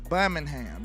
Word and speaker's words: Birmingham: It's no ing in there. It's Birmingham.